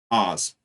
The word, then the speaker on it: Haas: So it's spelled Haas, like that. But it's, Oz, we calls him.